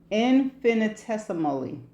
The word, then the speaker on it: infinitesimally: Okay, so this is how it is pronounced. Infinitesimal. Whoa. Infinitesimally.